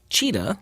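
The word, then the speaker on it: Cita: 16 students in class the school name is pronounced cheetah like the cat CIT a and hey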